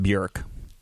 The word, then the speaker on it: Björk: but it's technically pronounced bjerk the arc yeah the oh with the umlaut is uh like a short u sound ah right technically it's